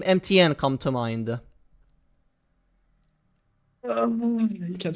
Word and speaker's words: MTN: name is actually like the idea when I got my name was that I wanted to pronounce like have people call me mountain in way uh but it kind of just it kind of stuck with MTN and I prefer that over Mountain yeah MTN is a cool